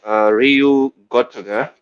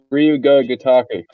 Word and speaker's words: Ryu Ga Gotoku: RGG being Ryu Gotoku. I think that's how you say it. Ryu Ga Gotoku. Yes.